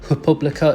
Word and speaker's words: República: notice the word República in the description, or República as they pronounce it, that is actually university accommodation, university